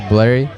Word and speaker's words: Blarry: My DJ name is Blarry. So, it's like rhymes with Larry.